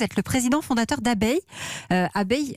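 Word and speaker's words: Abeye: Abeille, on dit abeille, mais ça s'écrit comme un œil, E-Y-E.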